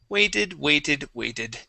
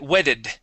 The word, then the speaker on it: waited: Waited. So, sip my coffee, waited. Here we go. All right. So, waited. You had said wedded using a short E sound. We wanted a long A.